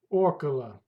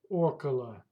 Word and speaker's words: около: Около. Около. That's mean about or around. Pay attention. The stress goes to first vowel. Около. Около. Около. Это займет около часа. It will take about an hour. Встретимся около 5 часов вечера.